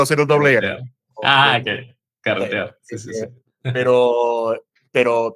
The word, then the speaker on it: carretear: Caretear. Esa yo no puedo hacer un doble. Ah, okay. Carretear.